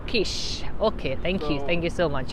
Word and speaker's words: quiche: THA quiche, it's pronounced quiche.